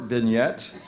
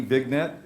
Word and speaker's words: vignette: is present a short vignette that's v i g v i g n v-i-g-n-e-t-t-e big net they taught me how to pronounce it vignette yeah it's bulgarian what